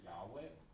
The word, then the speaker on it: Yahweh: So this is the Hebrew word Yahweh, which is an English sounding pronunciation. I think the Hebrews pronounce it differently.